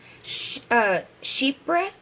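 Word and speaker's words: chypre: bergamot orange and Mandarin you have floral woody sheep breath which is spelled CH y PR e that was invented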